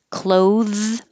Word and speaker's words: clothes: we had some here we did clothes whether you wear clothes or you close the door sounds exactly the same clothes i'll make a